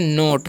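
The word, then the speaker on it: knot: हम लोग पढ़ते हैं नोट कैसे इसे हम लोग क्या पढ़ते हैं नोट पढ़ते हैं क्या पढ़ते हैं नोट नोट क्यों पढ़ते हैं क्योंकि के जो है यहां पर साइलेंट होता है तो इस बात को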